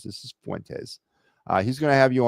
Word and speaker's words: Fuentes: And Fuentes, this is Fuentes, not Finentes. This is Fuentes.